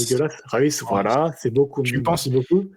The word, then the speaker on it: Reus: Reus, voilà, c'est beaucoup. Merci beaucoup. Au cas où, si tu t'hésites sur la prononciation, tu penses à Rolls-Royce.